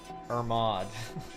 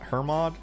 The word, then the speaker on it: Hermod: square instruments or mod her mod irma i call it irmod but that's probably like why would i why silent h i don't know it's h-e-r-m-o-d why